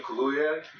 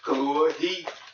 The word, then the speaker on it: Kaluuya: Daniel Kaluuya, I think that's how you pronounce his name. Kaluuya.